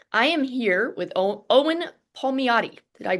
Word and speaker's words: Palmiotti: I am here with Owen Palmiotti. Did I pronounce that right? You got it. Palmiotti.